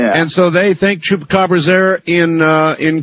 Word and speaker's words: chupacabra: It is my mission in life to teach people how to pronounce that. So let's do it. Say Chupa. Chupa Cababra. Cabra. Now say it all at once. Chupacabra.